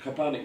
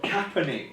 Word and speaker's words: Kaepernick: And Copernic now doesn't have a club to play for, directly because of his.